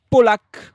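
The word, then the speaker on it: Pawlak: qu'on avait pas vu, Tobias Polac, ça s'écrit P A W L a K.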